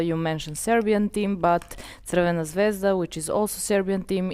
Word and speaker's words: Crvena Zvezda: whom I know, and they were like asked to pronounce Crvena Zvezda. And then Thierry are saying Crvena Zvezda, quite correctly, while uh Carragher and some others Crvena Zvezda.